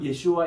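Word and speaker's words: ישוע: 근데 어느 나라든 그 나라의 현지 발음 그대로 발음해 주는 게 원칙입니다. 그래서 우리가 예수아 이 발음을 해야 돼요, 사실.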